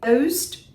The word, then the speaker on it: close: Being close to something is being connected. What about a door being closed?